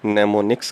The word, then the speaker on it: mnemonics: और इन सिंबल्स को नेमोनिक्स कहा जाता है। जिस तरह साइकोलॉजी में P साइलेंट है, इसी तरह नेमोनिक्स में M साइलेंट है।